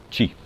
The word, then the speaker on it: chi: esse tal de ti se escreve i q I mas se pronuncia ti então vamos tentar descobrir